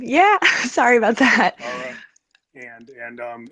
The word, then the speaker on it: Ariah: Ariah, like Mariah without the M. Yeah. Sorry about that. Ariah.